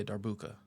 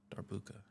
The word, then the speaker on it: darbuka: So, D Oh, Dar like Dart. Yeah. Yeah. Darbuka. Okay. Darbuka.